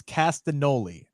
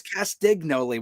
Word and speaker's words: Castagnoli: pronounce it correctly but i do believe it is castanoli i think like e is silent maybe i'm not sure i don't know i thought it was castignoli with the g maybe